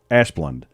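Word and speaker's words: Asplundh: the damn electric yeah ash plund a s p l d yeah that's the truck in front of her that's the that's the company so it's i think i'm pretty sure it's pronounced asplund nothing good's gonna come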